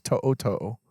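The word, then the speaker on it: To'oto'o: he comes back so thank you for pronouncing that right too because so many people butcher it's to toe well done you see the apostrophe you know the Polynesian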